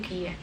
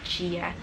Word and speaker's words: Gia: pribadi si karakternya yaitu Gia yaitu Jia Aku bingung banget Mau ngomongin Gia atau Jia kalau di Indonesia pasti bacanya Gia cuma kemarin aku tanya sama penulisnya dan dia bilang panggilannya adalah Jia yang paling aku suka